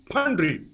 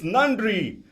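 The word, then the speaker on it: நன்றி: trying to kill me all i said was thank you pundry and he goes it's nandri panri means a pig one mispronounced word caused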